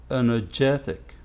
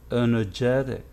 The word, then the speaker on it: energetic: we can notice that the stress is now on this syllable before the final so how to pronounce it it's energetic energetic genetic yeah this is